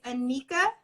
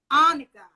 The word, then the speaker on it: Anicka: It's Anicka. Anicka. Yes. Wow, that is fabulous. Anicka. Like Monica without an M. I love it. Anicka.